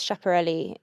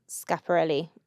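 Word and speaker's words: Schiaparelli: It was Chapperelli um tuxedo or Scaparelli if you're pronouncing it properly.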